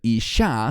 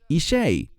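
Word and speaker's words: אִשֵּׁה: Israel Elí es y pronuncian esta palabra Isi incorrectamente como si fuera la palabra para mujer debemos tener cuidado de no decir isha sino isei porque esta es una ofrenda de fuego y viene de la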